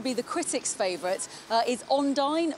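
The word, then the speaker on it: Undine: the critics favorite is on dine or Andina to give its its local pronunciation and that's a film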